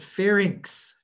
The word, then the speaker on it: pharynx: even think it but pharynx fairings ink ink like fair ink all right pharynx this is the back